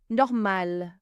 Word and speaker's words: normal: This and normal. Normal means normal and you pronounce the L on the end.